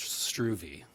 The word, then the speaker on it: Struve: The name is pronounced Struve, but thank you, Mayor.